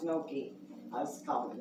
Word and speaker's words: gnocchi: Put some kale in it, gnocchi, and gnocchi, That's that, it looks like it's spelled ganache, but it's pronounced gnocchi. I was calling it ganache.